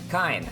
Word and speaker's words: K': K. Apparently, it's not pronounced Kane.